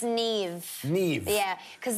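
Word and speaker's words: Niamh: John it's it's NE Neeve yeah cuz the MH always makes a v sound a verse sound right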